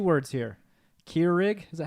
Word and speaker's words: Keurig: Keurig, is that how you say it? Yeah, Keurig.